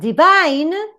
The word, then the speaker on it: divine: But you have divine, where we say that if it is strong here, the stress goes in the last syllable.